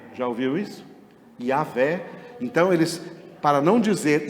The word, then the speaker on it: Yah: Uma das traduções do nome de Deus não é Jeová, é Yahvé. Já ouviu isso? Yahvé.